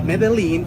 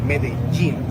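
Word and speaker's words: Medellín: Ju in which we when we have two L's together, we pronounce it as G. It happens with pojo. It's not pojo. It happens also with medin. So it's not medalene.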